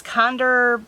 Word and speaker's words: KNDR: Now this next one, I'm not really sure how to pronounce it, if you're supposed to say KNDR or Kinder, but it's Kinder, KNDR Beauty, whatever it is.